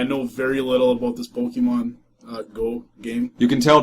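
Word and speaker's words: Pokémon: And for all you Pokemon Go fans out there, we have Pokemon Go hats in the store.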